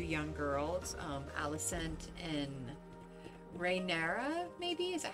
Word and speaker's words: Rhaenyra: young girls, Alicent and Rhaenyra, maybe? Is that how you say it? I think. But I like them. Or Rhaenyris. There's no S. It's just like Rhaenyra. And she's Rhaenyra. Very, very bold.